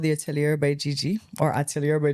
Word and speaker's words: atelier: I think this is more present Antilia. Is that how you The pronounce it? atelier.